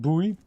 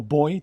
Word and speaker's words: buoy: Big buoy. Or boy, depending on where you're from in the world. I believe buoy is the American word, whereas boy is the British terminology. Spelled the same way.